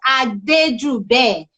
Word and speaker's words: Adejube: me people please uh the spelling i wrote down there is not his name his name is adeju bay what a wonderful name